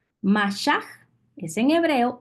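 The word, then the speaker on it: mashaj: h a j ma y se pronuncia con la J al final m a s h a j masah es en hebreo y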